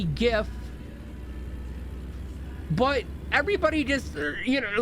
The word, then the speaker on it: GIF: for graphics interchange format it's a g it's a hard G says I don't give a what his creator says there's no there's no reason for it like like it literally okay seriously why is this truck oh oh I had to turn Arrow come on I had the wrong thing all right good it it's it it's like so obvious that it should be gift but everybody just you